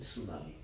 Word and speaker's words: tsunami: यहाँ पे टी जो है वो साइलेंट है इन सुनामी।